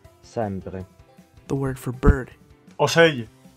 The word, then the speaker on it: ocell: The letter C before I or E has a soft sound. In Catalan, it's pronounced S, but Italian has CH. We saw this earlier in the word for bird. Ocello.